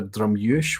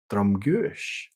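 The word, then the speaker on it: Drumguish: or the whiskey but it's either drum yush where you would ditch the G altogether or drumgush um I tend to favor drumush because it's just it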